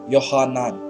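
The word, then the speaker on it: יוחנן: तो हिब्रू में इसका जो एक्चुअल नाम है वो है यूहन्ना, या उसे जो प्रोनाउंस करते हैं वो इस तरह से करते हैं यूहन्नान, जिसका अर्थ होता है कि यावे, यहोवा अनुग्रहकारी है।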